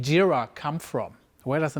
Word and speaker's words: Jira: Gilla all right that's also why it calls jira and not Gyra so great next question how many apps are